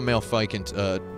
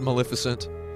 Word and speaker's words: Maleficent: And I went and saw Malfeicant twice as well. It's $5. I know it's pronounced Maleficent. I like saying Malfeicant.